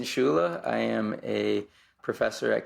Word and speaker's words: Scuilla: you just told me your name is pronounced a way that I did not imagine so you do it so my name is schula I am a professor